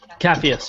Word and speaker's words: Capheus: Capheus, yeah.